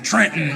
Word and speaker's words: Trenton: Don't pronounce the second T in our name. Trenton.